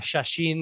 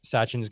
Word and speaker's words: Sachin: It's Sachin, right? I'm pronouncing it right. It's not Shashin or anything funky like that. It's Sachin. Yeah.